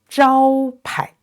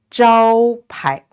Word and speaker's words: 招牌: That means this is unstressed, so it's pronounced 排 together. 招牌 one more time. 招牌 and this 菜 the vowel is ai, is